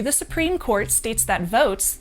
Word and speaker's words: Voatz: A briefing filed to the Supreme Court states that Votes, that's spelled VOATZ, they're a Boston-based e-voting